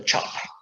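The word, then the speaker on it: cap: even without the cloth chop by the way if you're wondering that c in indonesian a c is pronounced ch cha so that's a chop and that's that other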